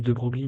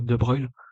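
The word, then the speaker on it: de Broglie: La longueur donte de de Bruil, ça s'écrit de Brogly mais censé dire de Bruil associé au mouvement du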